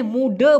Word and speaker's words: muda: kecil ছোট besar বড় tua বৃদ্ধ মুডা এখানে মুডা বলেছে আসলে সঠিক উচ্চারণ হচ্ছে মুডা এই যে মুডা হ্যাঁ ক্লিয়ার ব্যাপারটা না বুঝলে অবশ্যই প্রশ্ন করবেন Faham?